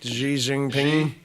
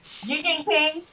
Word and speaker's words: Xi Jinping: possibly that he and, how do you say that, the Chinese, Xi, Xi Jinping. Xi Jinping.